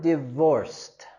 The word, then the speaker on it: divorced: I'm divorced. ¿Ok? Y aquí también tenemos terminación ed, pero en cambio este lo vamos a pronunciar con el sonido t.